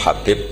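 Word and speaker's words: حبيب: yang nulis Abi Abdurrahman Habib asulami itu di harokatnya kitab itu ada yang nulis hubb Yang benar Oh gigih yang benar itu bacanya habib habib itu asulami itu ikut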